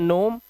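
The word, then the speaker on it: gnome: एन से पहले जी है। इसे पढ़ते हैं नोम।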